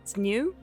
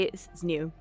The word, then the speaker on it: Zniw: gonna play something called I believe it's pronounced it's new I might be wrong uh z n i w I'm gonna say it's new which is a little hard to say but I'll keep trying